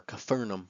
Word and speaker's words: Capernaum: Day 9, Capernaum or Capharnaum. I don't know why it's pronounced that way.